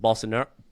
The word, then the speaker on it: Bolsonaro: Now their president is, thank God it wasn't Bolsonaro. Is that's how you pronounce it? Bolsonaro.